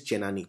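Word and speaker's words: Chenani: So I think I mispronounced it at Chennai. It is not Chennai. It is Chennani.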